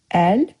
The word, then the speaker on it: əlbəttə: It's a little different pronunciation-wise from Turkish, just a little. But əlbəttə. Did you notice? Bette. You wrote, but I said bette.